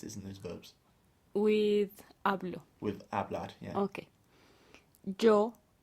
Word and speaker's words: hablo: With hablo. With hablar, yeah. Okay. Yo hablo, tú hablas, nosotros hablamos. Right. So in yo and tú, the accent is actually on the first syllable.